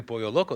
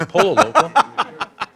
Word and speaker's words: pollo loco: But they pronounce it correctly, pollo loco. They don't say polo loco.